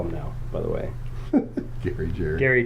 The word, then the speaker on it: Gary: Gary Jerry, because, there's a G there. That's how it's spelled. Right. Oh, God. But Jerry would be spelled with a J.